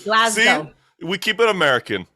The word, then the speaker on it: Glasgow: So I'm always saying Glasgow. What's the right one? It's with a Z, Glasgow.